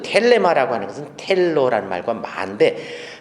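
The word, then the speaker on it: θέλημα: 아들을 보고 믿는 자마다 영생을 얻는 것이 하나님의 뜻인데, 이 뜻이라는 이 단어는 텔레마라고 그래요. 텔레마라고도 발음을 하기도 하고. 자, 텔레마라고 그랬는데, 이 텔레마라는 단어는 테로라는 말과 마라는 두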